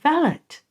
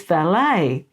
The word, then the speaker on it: valet: made another video and I said ballot thinking that I was making everybody happy and then someone said in the comment very nicely well I really enjoyed your video but you mispronounced valet it's valet so then I was